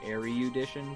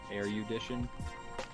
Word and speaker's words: erudition: He called it like erudition, but it's just erudition.